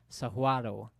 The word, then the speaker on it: Saguaro: and there's this one Saguaro here so the saguaros or that that native tucsonians pronounce them Sahuaro and Sahuaro and it